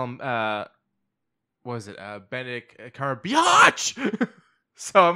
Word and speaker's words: Benedict Cumberbatch: I don't think I've ever seen anything Benedito Cumberbatch has ever been in that has been bad. Benedict Cumberbatch.